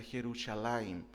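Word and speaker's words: ירושלים: salén y en el en hebreo Jerusalén se pronuncia jerus shalim shalim Y eso tiene mucho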